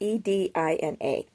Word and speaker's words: Edina: I'm not too sure how to pronounce it. It's Edina.